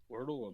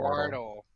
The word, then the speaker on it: Wardell: Wordle amiibo card? Not that Wordle. Wardle. Like the Y'all are ward. having pronunciation problems tonight.